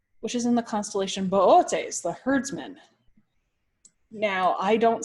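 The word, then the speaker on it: Boötes: and the reason being why I call it Bootes and not booties is because one of the O's on the constellation has an louse now if I accidentally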